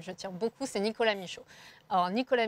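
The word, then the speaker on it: Michaux: J'ai 2 cobosissimes, dont un particulièrement auquel je tire beaucoup, c'est Nicolas Michaud. Alors Nicolas Michaud, c'est un artiste belge qui a un nom un peu passe-partout. Ça s'écrit M-I-C-H-A-U-X et qui écrit des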